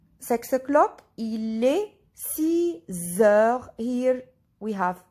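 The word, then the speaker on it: six heures: 6 o'clock, il est 6 heures.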